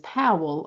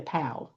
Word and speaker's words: Powell: So, like my maiden name is Powell. A lot of people say Pow.